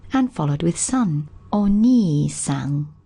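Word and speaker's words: お兄さん: When we want to refer to someone else's older brother, we need to be more polite. We need to pop the honorific o prefix in, and we add the kanji, the pronunciation, which now changes to ni. Ani on its own, but ni when it's preceded by o and followed with san.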